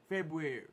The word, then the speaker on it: February: it for me but the r behind the be is silent February we don't Brew nothing